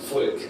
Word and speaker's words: Volk: Das Volk, Yeah. not das Volk. You pronounce it like an F.